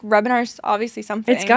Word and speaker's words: Hrebenar: Rebinar. Yeah, Rebinar. Okay. That was good. Nailed it. Nailed it. The H is silent.